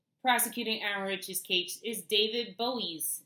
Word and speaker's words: Boies: a second attorney prosecuting our cheesecake is David Boies it's it's spelled Bo IES soap and Clemente bullies this